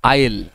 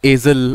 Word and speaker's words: aisle: आयल, first of ऑल, एक तो इसको प्रोनाउंस गलत करते हैं बहुत लोग, आपको मैं बताना चाहता हूँ, this is called an आयल, इट्स not called एजल और एनीथिंग ऑफ दैट सॉर्ट.